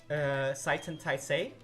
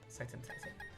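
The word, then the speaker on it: 斉天大聖: Seitan Taisei. Seitan Taisei. Which is like a Japanese pronunciation of the kanjis that made up the words for Great Sage equal to heaven.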